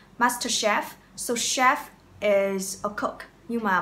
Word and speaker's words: chef: Chef, chef, cook. Cái từ chef này là bắt nguồn từ tiếng Pháp, nên các bạn phải say chữ CH, được phát âm là ch, chef, chef and cook.